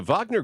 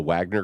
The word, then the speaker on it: Wagner: uh foreign languages because I thought it was a Wagner group evidently it's the Vagner group but if you spell it out that's that's what it looks like I'm like and it